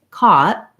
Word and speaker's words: caught: with the ca sound and then in this case the gh is silent and we often say caught caught where we may not say that t and release it so we might not say caught with a strong t you might just hear